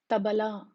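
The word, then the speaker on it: తబలా: To achieve these sounds or these pronunciation, they are pronounced with the tongue touching the back of the upper teeth.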